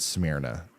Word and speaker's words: Smyrna: Okay, so actually there are several states that pronounce it Smyrna, and Tennessee is the odd one out.